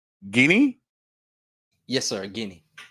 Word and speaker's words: Guinea: the tropical rainforest of why I keep messing up this word it's guinea Yes, sir.